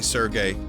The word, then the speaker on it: Serge: So, listen, I say Surge. I know some people want me to say Sergey, like the way it's spelled here.